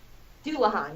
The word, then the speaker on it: Dullahan: ] called do Orhan dullahan yes it's how you pronounce it that's all I